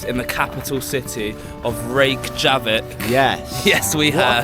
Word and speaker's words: Reykjavik: So we have just arrived in the capital city of Reykjavik. Yes. Yes, we What a have. fantastic pronunciation.